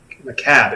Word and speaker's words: macabre: Macabre. It's macabre. It's pronounced macabre, you son of a bitch!